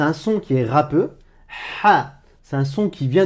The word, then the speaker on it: ح: Alors, c'est quoi ce son? Ce son, écoute bien, c'est le son ha.